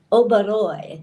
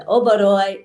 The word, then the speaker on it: Oberoi: I am here live at the Oberoi, that's how you say it, the Oberoi Resort in Hurghada, Egypt, on the Red Sea.